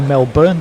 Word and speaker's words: Melbourne: Now, Melbourne Chelsea, or should I say Melbourne Chelsea, because he says don't pronounce the O in Melbourne.